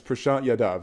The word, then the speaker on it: Prashant Yadav: It's Prashant Yadav.